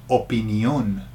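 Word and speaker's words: opinión: what about this one opinion opinion is opinion the only differences watch out for the accent so can you see in the Spanish version It's opinion so the emphasis goes on the last out whereas in English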